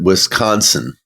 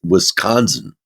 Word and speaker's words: Wisconsin: I pronounced it Wisconsin.